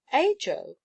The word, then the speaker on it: Ajo: am called nothing else ajo repeated beth her sweet voice giving the title a pleasant sound in spanish it would be pronounced aho but we are not spanish in sangoa what are